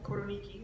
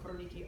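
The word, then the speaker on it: Koroneiki: So it's a single variety, 100% Koroniki. That's spelled K-O-R-O-N-E-I-K-I. That's the easiest Greek olive oil to find in the United States. You can get it even at Trader Joe's, Koroniki olive.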